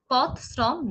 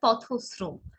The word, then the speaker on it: পথশ্রম: পথশ্রম নয়, এর উচ্চারণ হবে পথশ্রম। আবার বলছি, দেখবেন পথশ্রম।